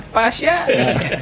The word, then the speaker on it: Paes: the match kemarin itu Tapi bacanya pas bukan Pais ya pas Martin pas